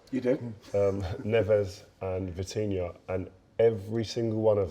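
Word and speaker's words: Vitinha: Um Neves and Vitinia and every single one of them spoke about working hard, a work ethic but enjoying it.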